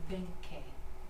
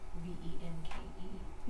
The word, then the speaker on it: Venke: It's pronounced Venke. V-E-N-K-E.